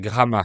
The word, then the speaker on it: Gramat: Il s'appelle Gramat, ça s'écrit G-R-A-M-A-T, mais cette fois le T final est muet.